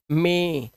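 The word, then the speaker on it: May: वैसे यह हमारा महीने का महीना होता है मंथ क्या होता है मई लेकिन एक्चुअली मई हिंदी का वर्ड है इंग्लिश में इसे बोलते हैं मे इसलिए इसे मई मत बोलना इंग्लिश के अंदर ठीक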